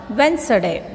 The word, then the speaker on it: Wednesday: In this word, L is a silent letter. L is not sounding. Almond. So, second word. Wednesday.